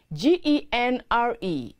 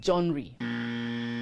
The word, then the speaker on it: genre: that please be guided g-e-n-r-e is a style or category of music art or literature it is pronounced genre not joinery or john ray a set of connecting